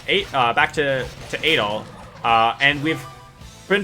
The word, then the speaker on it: Adol: doll is um not how his name is pronounced it's adol for this character here uh but the other